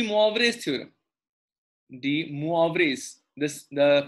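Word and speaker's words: De Moivre: going to talk about the D Mo theorem D moas this the pronunciation is de de theorem okay so the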